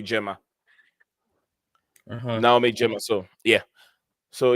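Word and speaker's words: Girma: See, I checked the pronunciation. They pronounce it Gemma.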